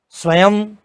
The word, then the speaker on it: स्वयं: जब शब्द के अंत में अनुस्वार आता है तो वह अनुस्वार का उच्चारण म, हलंत म ही होता है। जैसे अहम, स्वयं, पुस्तकम।